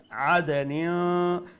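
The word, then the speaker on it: عَدْنٍ: Make sure you do ikhfa there, okay? Noon has a tanween, and after tanween is letter ta. So we have to pronounce the tanween with ikhfa. عَدَنٍ.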